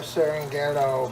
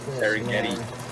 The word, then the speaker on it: Serengeti: Let's take our Serenghetto pepper jack. Serenghetto! Cheese. Darren Ghetto, that's what it is. I want to put it on top. Oh, said burger meats. Here it is a mispronunciation. Some Like Serengeti.